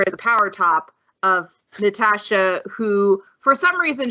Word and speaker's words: Natasha: a power top of Natasha who for some reason Schwartz Bruder can't say her name right in the dub and called her calls her Nastasia and I'm like and